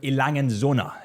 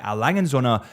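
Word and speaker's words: A. Lange & Söhne: Let's dive straight into number one with Lange Söhne. Lange Söhne. It honestly took me a long time to get the pronunciation of Lange Söhne right, because I was calling it Lange Söhne for the longest time.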